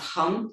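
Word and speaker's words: ham: But if you would like to do the seed mantra, the it's hum, h a m, but it's pronounced hum.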